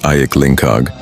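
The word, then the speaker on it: Ayik Lingkar: The village is embraced by two flowing rivers, Lingkar, pronounced Ayik Lingkag, and Ayik Siam.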